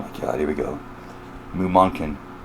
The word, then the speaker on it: Mumonkan: Mumonkan. I'm like damn sure it's pronounced that way.